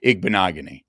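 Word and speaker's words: Igbinoghene: Smi T is pronounced igbanogany.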